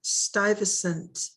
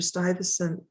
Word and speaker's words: Stuyvesant: in new york peter stuyvesant notice how it's spelled very different than it sounds peter stuyvesant and the fort that